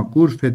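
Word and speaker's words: غرفة: var sizin değil mi gurfe bakın gur fün diye yazılır ama gurfe diye okunur Siz gurf tün yazacaksınız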